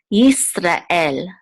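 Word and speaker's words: ישראל: syllable out says el, Yisrael. And you want to make sure that there's like a guttural stop between the ra and the el. So it's not Yisrael, but Yisrael.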